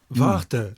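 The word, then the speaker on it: Varta: Yeah, Vart. Tell us about Vart as you pronounce it. It It sounds like wait in German or Vart.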